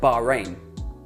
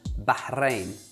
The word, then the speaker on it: Bahrain: This is how most people say it, Bahrain. This is how it's correctly said, Bahrain. Again, it's the R, it's the R, Bahrain, rain, rain, or Ra, Bahrain, Bahrain, Bahrain, Bahrain, Bahrain, Bahrain, Bahrain.